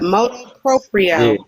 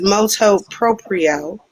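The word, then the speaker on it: motu proprio: to wrap it up motor proprio I did not say it right the first time it's molto proprio um and again what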